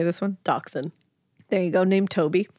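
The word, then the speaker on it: dachshund: tan mini how do you say this one doxen there you go named Toby who was a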